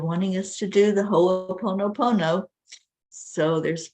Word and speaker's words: Ho'oponopono: And it's pronounced Ho'oponopono.